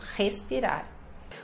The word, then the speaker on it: respirar: Aqui o R inicial. Então, respirar.